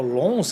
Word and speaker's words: Lens: Foram o Lens, que é o Lons, que a pronúncia, né?